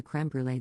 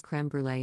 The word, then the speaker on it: crème brûlée: a comment about the crème brûlée they had, and I pronounce it in French. Because it's a French word. And I'm French. And Sorrel interrupts and goes crème brûlée in a really exaggerated